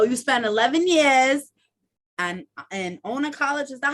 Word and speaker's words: Iona: So you spent 11 years and Iona College. Is that how you pronounce it? Because Iona.